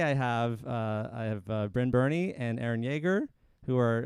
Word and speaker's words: Brynn Byrne: um so today i have uh i have brynn burney and aaron yeager who are uh two out